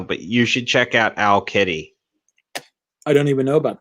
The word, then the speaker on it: Owl Kitty: you should check out Owl Kitty. I don't even know about that. As it sounds like it's spelled OWL Kitty.